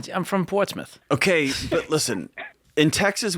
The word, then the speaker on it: Portsmouth: Portsmouth. Portsmouth. Just Smith instead of Smouth.